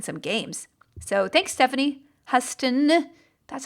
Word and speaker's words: Huston: So thanks, Stephanie Huston. That's how you pronounce that.